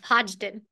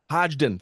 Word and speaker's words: Hodgdon: And did I pronounce that correctly, Rachel? Close enough. Hodgdon. Hodgdon.